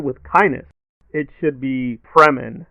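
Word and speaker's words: Fremen: but he went with kindness it should be fremin not Freeman not Morgan Freeman so that was a little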